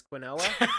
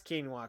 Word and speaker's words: quinoa: when people spilled quinoa, which I used to pronounce as quinoa. Um, So I'd be like, "Oh shit, I'm putting the Quinn in quinoa. What's up?" And then they were like, "That's quinoa, Quinn."